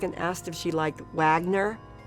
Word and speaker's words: Wagner: And remember when he turned up the music and asked if she liked Wagner? Well, as you probably realize, it's pronounced Wagner.